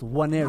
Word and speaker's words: Nwaneri: Waneri. kid. It's pronounced Waneri.